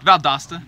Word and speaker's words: Valdosta: town and go experience something different that's that's pronounce Valdosta or Doster Valdosta Valdosta State University out of Georgia right yes